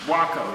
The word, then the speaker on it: Waco: of buck Weaver and yeah how do you pronounce that wo wo wo no like taco wo Waco w a like like taco okay and um